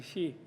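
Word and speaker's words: Xi: And I think that this she guy, she, which means peace in Tibetan, actually, she, even though they spell it X-I, but she could do it, and we're praying for him to succeed in doing it.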